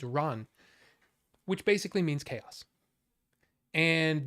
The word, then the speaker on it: Ran: The next movie, not planned, watched Akira, and then I watched an Akira Kurosawa film, Ran, or Ran, as it's actually pronounced in Japanese, Ran, which basically means chaos.